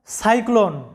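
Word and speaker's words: cyclone: তো এখানে উদাহরণস্বরূপ দেখো সাইক্লোন, সিওয়াই সাই, CLONE ক্লোন। এখানে লক্ষ্য করো সিওয়াই সাই, প্রথম সিলেবলের মধ্যে আমাদের উচ্চারণটা আসছে সাই। কেন? কারণ সি এর উচ্চারণটা এখানে সাই হয়েছে এই কারণে যে সি এর পরে ওয়াই আছে।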